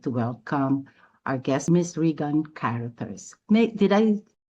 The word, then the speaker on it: Regan Caruthers: Without further ado, I would like to welcome our guest, Miss Regan Caruthers. May did I pronounce it Oh my. Yeah, it's all right. It's Regan Caruthers.